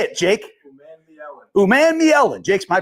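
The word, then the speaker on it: Umanmielen: Uman-Mi-Ellen. Jake's my pronunciation guy.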